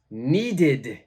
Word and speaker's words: needed: right this word is needed needed so it's the ID pronunciation number four please check